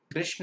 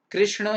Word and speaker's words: कृष्ण: राम एस राम एंड कृष्ण एस कृष्ण no problem okay spelling पूरी करने के लिए लगा रहे ठीक है पर उसका प्रोनंसिएशन तो कृष्ण कृष्ण ही रहेगा इट्स नॉट कृष्णा इटस कृष्ण इट्स राम ना कि